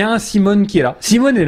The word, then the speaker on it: Symone: C'est une start-up française qui s'appelle Simone, S-Y-M-O-N-E. Je le prononce à la française. Oui, moi je le dirais Simone parce que j'ai envie de dire en voiture Simone.